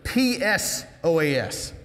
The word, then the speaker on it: psoas: The main body of the tenderloin is the psoas major muscle, and that's a P-S-O-A-S, psoas. It's one of those cool silent P words.